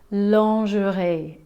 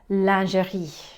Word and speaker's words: lingerie: french speakers may have picked up that we pronounce it lingerie in english lingerie which is actually the incorrect